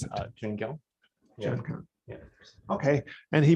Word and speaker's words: Joonkyung: How do you pronounce it? Joonkyung.